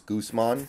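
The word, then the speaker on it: Gausman: the announcer is saying the Blue Jays pitcher's name wrong is funny it's Gooseman oh really what Julio smashes it right God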